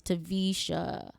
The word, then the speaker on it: Taversha: the ratchet R it's tvisha the r is silent on Instagram Snapchat Twitter